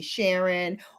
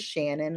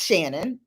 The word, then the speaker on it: Shannon: younger years when people would call me sharon or people didn't know how to pronounce my name which is shannon like okay you didn't